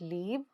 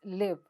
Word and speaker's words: live: Pronounce this right. It's not leave, it's live.